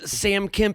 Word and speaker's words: Sam Kemp: than big game experts, an expert on games, Sam Kemp, and I hope I'm saying that right. That is the correct pronunciation.